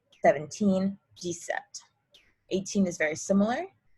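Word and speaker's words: dix-sept: so really this is directly translated is 10 7 17 decept 18 is very similar di sweet 19 is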